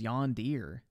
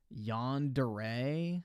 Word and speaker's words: yandere: an extremely serious wait is that how you say it I thought it was yand Deere yandere what the f yeah